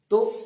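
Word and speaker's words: ت: পরে উচ্চারিত হবে বা তা উচ্চারণ করার সময় দেখব যে আমরা জিভেটা দুটো দাঁতের সামনের দাঁতের তলে চাপ খেয়ে উচ্চারিত হচ্ছে তা উপরের দাঁত জীবের আগার উপরে চাপ লেগে তা উচ্চারণ হচ্ছে তারপরে আছে ছা।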